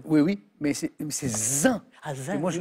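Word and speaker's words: zain: avait 3 syllabes. Oui, mais c'est zin.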